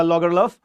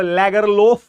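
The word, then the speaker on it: Lagerlöf: शी इज a lady, Selma लॉगरलफ। Okay, अब इसको लैगरलोफ नहीं बोलेंगे, इट इज लॉगरलफ। Okay, लॉगरलफ। एंड in many cases लॉगरलफ एफ जो है वो व की तरह प्रोनाउंस होता है, सो इट्स सेल्मा लॉगरलफ।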